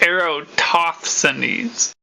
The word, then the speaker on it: Eratosthenes: Just so you guys know, it's Eratosthenes. I'm pretty sure. Like aerodynamics.